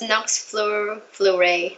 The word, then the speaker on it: Nox Fleuret: It is pronounced Nox Fleuret, not Nox Fleuret. Okay, I know Just that. like, fuck. I knew about that. Nox Floret.